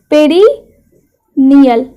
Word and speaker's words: perineal: क्या बोलते हैं, स्पेलिंग क्या होती है, पेरिनियल, PERINEAL, पेरिनियल एरिया।